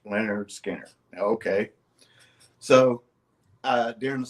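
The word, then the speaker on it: Lynyrd Skynyrd: cover he was looking at it Leonard Skinner pronounced Leonard Skinner okay so uh during the song you know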